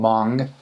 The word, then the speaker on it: Hmong: It's called Mong. It's spelled H M O N G. So, a lot of people uh when they read the name, they recognize it, but when they hear it, they don't they don't recognize it.